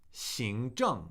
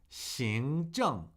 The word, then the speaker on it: 行政: 行政, second tone, fourth tone. 行政, 行政, 行政.